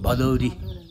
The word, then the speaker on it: Bhadaure: So arrival in the month of Bhadra, therefore, Bhadaure. In Gurung language, it's Bhadauri, and 'u' and 'ri' are pronounced.